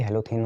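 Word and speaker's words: halothane: हेलोथेन, कोई सा भी हेलोथेन होता है, हेलो हो गया और थेन है, थेन मतलब ई को साइलेंट करते हैं। ठीक है, हेलोथेन मतलब इथेन के साथ हेलो।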